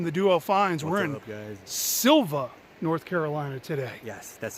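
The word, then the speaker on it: Sylva: with matt from the duo finds we're in silva north carolina today yes that's how you say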